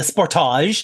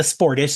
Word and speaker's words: Sportage: first one here and I'm going to use the Canadian Kia Canadian company uh pronunciation because I like it better the Sportage yes that's what we call it yeah the Sportage not the sportish the Sportage uh it sounds fancier and this was literally